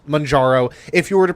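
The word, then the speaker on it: Mounjaro: The number of people who pronounce it mjouro like they're ordering a freaking pizza is ridiculous. Like there's not an N at the end of the word.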